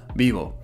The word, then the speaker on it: vivo: And I'm also doubtful about the V sound, but it should sound closer to a B, so vivo.